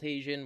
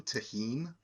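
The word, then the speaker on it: Tajín: Like there's white salt, black salt, Tajin, whatever. It's like this weird spicy lime flavor. do you mean tahine? Yes. Just like with French, I don't pronounce Spanish correctly either, okay?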